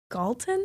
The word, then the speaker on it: Galton: going to butcher his name, but Sir Francis Galton?